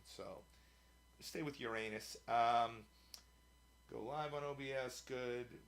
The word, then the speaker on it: Uranus: So they say Uranus, but then you're starting the name of the planet with the word urine. So stay with Uranus.